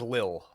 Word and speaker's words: Lille: How do you pronounce it? Lille or Lille? I believe it's pronounced Lille. I saw online that it was Lille. Leeel. Lille. That's what I saw online. Okay, we can go with that.